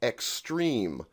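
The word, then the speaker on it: XSTREEM: today started his own label with friends called extreme now this is spelled all caps x-s-t-r-e-e-m in 2014 and that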